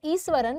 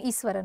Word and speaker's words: Iswaran: है ईश्वरण ठीक है सी आई am pronounce the name as ईश्वरण because यहां पर एच नहीं है एंड ए एच वाला साउंड श देता है सो we will call him ईश्वरण okay तो ही वास स्टडिंग